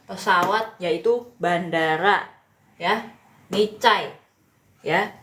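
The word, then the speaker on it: 在: Ini Cai ya. Kalau misalnya ZAI ini pinyin begini dibacanya bukan Zai ya, bukan ya teman-teman, tapi Z-nya diganti C ya.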